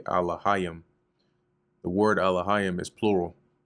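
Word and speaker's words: אלהים: So even here, even though they have the pronunciation off, you see they have Elohim, which is really Alahayim.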